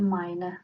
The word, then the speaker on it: meine: As you notice, the ending E is attached to meine Frau. That is the requirement for the feminine gender. The E at the end must be pronounced, otherwise it will be grammatically incorrect.